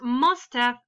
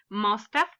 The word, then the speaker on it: must have: Okay, so for example, when you use Mustaf, and it is very important that you pronounce it this way, Mustaf.